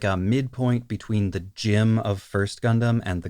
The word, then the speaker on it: GM: And then the J, I think, is a shortening for like James, whereas the Jim, although it's spelled GM, is pronounced like the name Jim, which again is short for James.